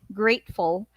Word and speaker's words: grateful: So grateful, grateful. So this is the schwa sound, and great, grateful, grateful. So great is the one that is being stressed.